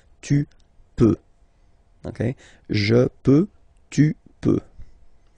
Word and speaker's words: peux: peux, okay, then tu, tu peux, same pronunciation and same spelling or writing, okay, P-E-U-X, okay, don't pronounce the final X, tu peux, okay, je peux, tu